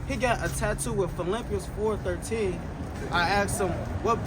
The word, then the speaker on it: Philippians: Then he said that's not Philippians, that's Filipinos. So he don't even know how to say the name of the church.